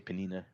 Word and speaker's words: Peninnah: say Penina. Penina. Penina. They're lovely. They're lovely. Yeah. Oh, that's it. I was thinking the sandwich, but anyway. Um, That's where Penina, the sandwich comes from.